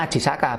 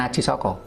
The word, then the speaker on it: Aji Saka: Kalau mau dan bacanya Aji Saka bukan Aji Soko.